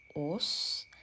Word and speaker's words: Ås: town I was going to which is actually pronounced OS um yeah and it was a beautiful train